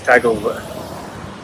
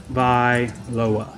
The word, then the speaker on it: Tagovailoa: I know how to say it. It's Tagovailoa. Tagovailoa. There, I said it.